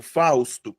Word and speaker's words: Fausto: Ó, se eu pego Fausto, o que eu tenho? 1, 2. A sílaba tônica tá onde? Tá aqui. Beleza? Fausto. Tá?